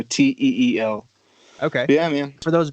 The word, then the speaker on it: Teel: So it's Teel Page and the Capital Club, and Teel spelled with two E's, so Teel.